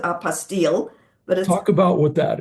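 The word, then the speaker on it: apostille: What kind of other things you you told me about the uh apostto? Am I saying that right? Apostile. Apostile. Thank you. It's in French and most people pronounce it apastil, but talk about what that is.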